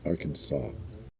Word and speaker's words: Arkansas: of Kansas it goes from Arkansas and you pronounce it Arkansas good question we're not in Kansas anymore you're